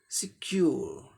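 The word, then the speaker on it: secure: हो जाएगा इसका उच्चारण, सेकंड सिलेबल पर जोर दे के बोलना है, सिक्योर, सिक्योर, सिक्योर, है ना, सिक्योर।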